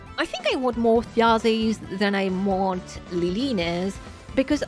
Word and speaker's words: Þjazi: Þjazi banner because apparently you're supposed to pronounce her name Þjazi, something along this line.